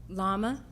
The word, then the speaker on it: llama: Llama. Llama is right.